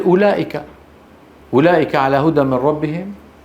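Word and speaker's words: أولئك: ما زيدت فيه الواو في كلمات مكتوب فيها واو ولا احد ينطقها مثل اولئك اولئك على هدى من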